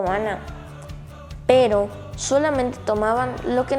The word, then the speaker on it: maná: En hebreo se dice maná.